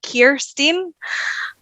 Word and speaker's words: Kirsteen: Americans don't they all they say it's like Kirsten so like I don't know why so yeah